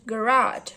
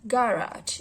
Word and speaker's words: garage: For instance, in American English, the word garage receives stress on the second syllable, while stress falls on the first syllable of garage in British English.